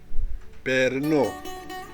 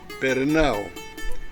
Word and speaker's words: περνώ: This verb is spelled with epsilon, epsilon, and the accent is on the last syllable, so don't be confused.